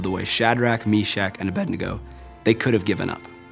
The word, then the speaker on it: Abednego: right no matter what Shadrach mesak and Abednego Abednego that's how you say it Abednego they showed great courage and if you guys